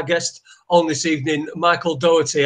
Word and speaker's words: Doherty: finally got our guest on this evening Michael Dougherty how you doing Michael I'm very good and thanks for pronouncing my surname perfectly the country you know